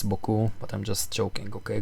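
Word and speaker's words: beaucoup: normal move thank you bayaku for the for the pawn of course i know how to pronounce french it's boku but i'm just joking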